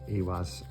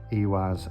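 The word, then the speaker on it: Ihwaz: I do know that Iwaz, the I is pronounced as E or F. E's are like E and I's are like E.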